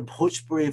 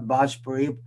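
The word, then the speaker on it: Bhojpuri: um the word the pujpuri for example was mispronounced so it's it's a heavy h there and it's not bhajpuri it's okay similarly uh the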